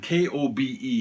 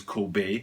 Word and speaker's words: Kobe: And K-O-B-E here is Kobe, whereas of course Kobe's name is pronounced Kobe.